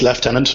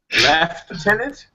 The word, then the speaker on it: lieutenant: excellent uh thank you lieutenant it's left tenant but no problem leftenant that's just how you say it in an English accent I think and the